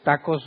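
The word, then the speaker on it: ταχέως: pronto es tacos pero es tacos no con no como los tacos que conocemos sino t a c h o s o sea tachos se pronuncia tacos y se traduce como rapidez velocidad apresuradamente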